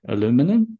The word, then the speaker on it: aluminium: phenomenon that silica detoxifies aluminium apologies to my us colleagues I'll be saying aluminium but you would of course say aluminum and spell it slightly differently and I'll briefly just